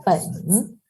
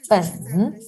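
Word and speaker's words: 本: Entonces, por ejemplo, este carácter se pronuncia pen, pen.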